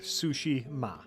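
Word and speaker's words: Tsushima: The way I have heard it is like the food and your mother. Sushi ma.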